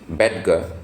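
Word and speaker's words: Bettger: name is Frank beder people some people also pronounce it as bedgar but I've heard many people from the US pronounce it as beder so Frank beder wrote this how I raised myself from failure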